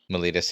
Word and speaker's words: Miletus: Miletus, yeah. I was doing this joke where I was calling it my lettuce for a long time. Ah, my lettuce. Yeah, but it's Miletus.